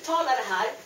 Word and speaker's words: parles: You don't pronounce ES either. Tu parl (but you write TU PARLES) At IL, ELLE, ON you add the same ending.